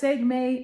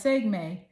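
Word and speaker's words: Sekhmet: The goddess segme is from the African goddess rising deck and her name is spelled s e k k h m t.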